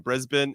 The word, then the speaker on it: Brisbane: uh I get it what's funny is that you have Brisbane which is spelled with a b-a-n-e and then you have Melbourne and it's still pronounced the same Brisbane and Melbourne and you know what